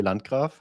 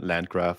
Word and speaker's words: Landgraf: So, in German, my name is pronounced Andre Lancra. That's pretty cool. But, uh, everybody here just says Andre and then Landra, I guess.